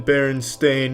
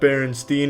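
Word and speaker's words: Berenstain: It's always been Baron Stain, not Baronstein. Everyone, every everyone every they all want to pronounce it Stain, but it's Stain.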